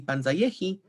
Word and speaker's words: panzayehi: Again, in 11a, we see panzayehi with penultimate stress on ye.